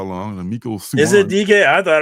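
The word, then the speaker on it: Mico Suayan: Suyong is how Miko Suyong. Okay. I was messing his name up for so long. It's like DK Ruan. I've been mispronouncing his name for God knows how long. And Miko Suyong.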